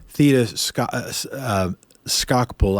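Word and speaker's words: Theda Skocpol: borrowing here from Vox Thetis cuss scalpel I believe is the pronunciation state legislators are probably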